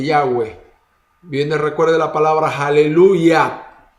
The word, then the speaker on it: Yahweh: y modernos, indica que el nombre correcto de la pronunciación del nombre de Dios es Yahweh.